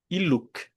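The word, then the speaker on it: illuc: Essa palavra iluk, ela é uma oxítona, não é iluk, mas iluk é como você deve deve pronunciar.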